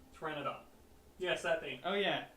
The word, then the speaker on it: Pteranodon: Pteranodon. Pteranodon. Yes, that thing. Oh yeah, that's right. The P is silent.